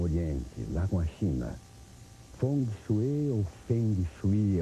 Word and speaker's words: Feng Shui: Há uma polêmica um pouco às vezes de saber como se pronuncia, né? Se é Feng Shui, se é Feng Shui ou Feng Shui. Bom, no que eu aprendi em Taiwan, que a pronúncia correta seria foneticamente Feng Shui.